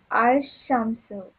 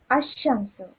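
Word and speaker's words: الشمس: Example, Al-Shamsu. The sun is pronounced Ash-Shamsu. So he's telling you that in solar letters, Shamsi Aruf, the Lam will be silent, okay?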